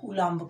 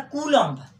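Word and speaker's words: Coulomb: कूलॉम्स लॉ मतलब हो गया कूलाम्ब का नियम। इसको लिखा जाता कूलॉम्ब, लेकिन पढ़ा जाता कूलाम्ब।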